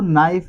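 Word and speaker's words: knife: अब देखना है दोस्तों नाइफ में के नहीं बोला जा रहा या के की आवाज नहीं आ रही।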